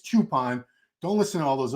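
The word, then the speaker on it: Choopan: here we're talking about Hadi chupan and it is chupon remember people were trying to correct me and and shame me because I was saying his name wrong yeah well IAL I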